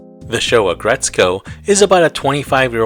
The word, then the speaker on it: Aggretsuko: the name is a combination of the words aggressive and the main character's name retsuko I know that it's spelled aggretsuko and retsuko but the pronunciation is aggretsko and retsuko she was created by